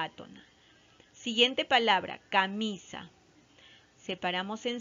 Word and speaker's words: camisa: Siguiente palabra, camisa. Separamos en sílabas, ¿no? Camisa. ¿Ya? ¿Cuáles son las sílabas átonas? Es ca y sa, ¿no? Ca, mi, sa. Mi es la sílaba tónica, es la sílaba más fuerte.